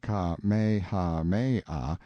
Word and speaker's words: Kamehameha: When Kamehameha, pronounced Ka-me-ha-me-ah, the Great, who was